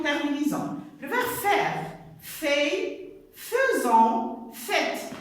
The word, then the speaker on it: faisant: Fait, faisant, faites. Ici, vous allez me dire, il s'écrit avec AI, mais il se prononce E, les enfants, et vous savez déjà ça.